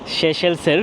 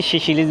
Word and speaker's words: Seychelles: আপনাদেরকে স্বাগত জানাচ্ছি পৃথিবীর ক্ষুদ্রতম রাজধানীর একটি ভিক্টোরিয়াতে শেষেলসের রাজধানী অনেকে শিশিলিজ বলে যদি উচ্চারণ হবে শেষেল তো সেশেলের রাজধানী থেকে